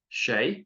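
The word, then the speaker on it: sé: two is you um Shay once again it's an s next to an E or an i so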